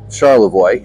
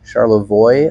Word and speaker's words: Charlevoix: just go slow uh Char charlam charoy charoy I think is how it's pronounced is a very nice